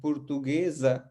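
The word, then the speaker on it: português: फिर एक बार देखिए, एस के आगे और पीछे दोनों तरफ वॉवेल्स हैं, तो ये क्या हो जाएगा इस स्थिति में? एस बदलकर ज हो जाएगा, पुर्तुगेज।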